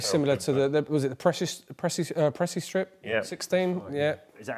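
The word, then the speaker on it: PreciStrip: Well, it's very similar to was it the Pressy Strip? Yeah. 16, yeah. Is that how you say it, David? Pressy Strip 16.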